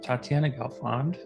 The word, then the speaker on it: Tatyana Gelfond: with my longtime friend Tatiana gond wow thanks for pronouncing that correctly was it right I'm yeah most people say tat or something weird like that I have no idea